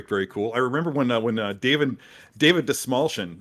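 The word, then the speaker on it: Dastmalchian: I remember when David Desmalchin actually taught me how to say his name by saying that a friend of his came up with the phrase "the small chin." So if you're wondering how to pronounce that actor's name, then that's how it's done.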